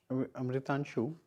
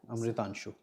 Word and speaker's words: Amritanshu: Amritanshu, I'm pronouncing your name right, no? Yes, sir. Amritanshu.